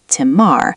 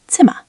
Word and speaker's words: Zimmer: Many learners want to pronounce a strong R, Zimmer, but native-like speech is closer to Zimmer. Wait, so final R kind of disappears? It softens into a vowel-like sound.